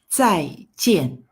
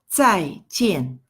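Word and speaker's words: 再见: Jang goodbye okay you can read after me tsai-tien tsai-tien okay that is number one way of saying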